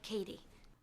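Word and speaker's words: Cady: problem compare this to catty from mean girls it's pronounced like katie her internal conflict is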